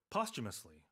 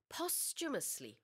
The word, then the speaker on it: posthumously: Posthumously 이렇게 발음을 합니다. Yeah, there's a CH in there.